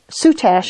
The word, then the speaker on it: soutache: so that's what you need to know about soot ash in terms of how to pronounce it what is it and what can